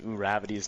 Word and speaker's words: Uravity: 4 to stop pronouncing Uravity's name as Uravity. But it's not Uravity? Is it not Uravity? It's Uravity. That's how you pronounce like you. There's an R though.